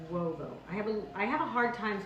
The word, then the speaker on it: uovo: It's pronounced uovo.